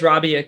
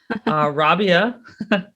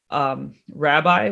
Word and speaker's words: Rabiah: I get called Rabbi when I pick up my coffee at Starbucks, like, Rabbi, here's your latte.